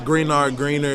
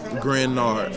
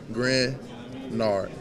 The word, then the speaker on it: Greenard: So the easiest way to remember it is take that second E out. I mean, the second E is silent. Greenard, and it's the same thing.